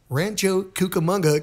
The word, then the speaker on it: Rancho Cucamonga: Rancho Cucamonga, California.